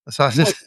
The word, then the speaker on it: Mossadegh: Iranian Prime Minister Mohammad, I don't know how to say it, Mossadegh. Is that how you say that? Mossadegh? Okay. Yeah.